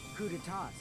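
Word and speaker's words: coup d'état: I remember hearing that they're dangerous guys who are responsible for terrorism, coup d'etats, and wars. It's pronounced coup d'etats.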